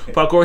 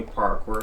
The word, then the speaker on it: Pakor: you can see for those who don't know parkour he's on the inside p a k or